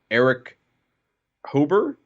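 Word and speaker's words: Erich Hoeber: You had Joby Arnold, who wrote Army of the Dead and the Obi-Wan Kenobi series, Eric Hober?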